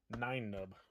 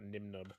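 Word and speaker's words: Nien Nunb: Nine Nub. Not Nimnub. I always get that one wrong.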